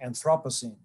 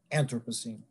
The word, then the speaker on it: Anthropocene: In fact, I should say there's so much disagreement about this that even the pronunciation is at issue. Some people say Anthropocene, some say Anthropocene.